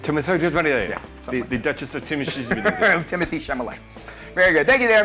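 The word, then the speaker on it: Timothée Chalamet: pronunciation I know it's kind of hard it's pronounced Timothy chamay Timothy The Duchess of Timothy Timothy chamay very good thank you there MD there's your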